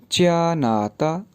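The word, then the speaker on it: 加拿大: जी इसके बाद च्यानाता।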